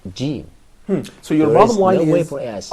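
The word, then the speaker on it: ج: When we all sit down to or begin to recite the ever-glorious Quran, we all pronounce it jim.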